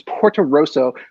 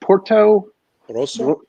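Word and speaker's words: Portorosso: um it's pretty cool the town's name is puerto rosso which i can't roll my r so i can't say it properly no port porto rosso yeah i don't know if you're rolling the order come on there you go yeah yeah thank you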